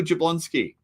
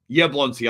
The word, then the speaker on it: Jablonski: And so is Camille Jablonski. Yablonski. I've got to remember to keep saying Yablonski. It's Camille Yablonski. You don't pronounce the J.